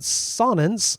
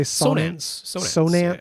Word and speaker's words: Sonance: he was looking at sonin uh is it sonin do we say sonance so with a long o he was looking at